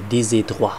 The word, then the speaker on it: Col des Trois: Col des Trois. Ne, des Trois. Man muss ja das S mit rübernehmen, habe ich im Französischunterricht immer gelernt.